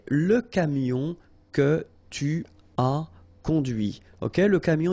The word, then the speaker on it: conduit: And that's when you hear the difference between conduit, because remember, final T is not pronounced, conduit, here, and then the feminine, conduite. Okay, so here you can listen to this t, t, okay, conduite.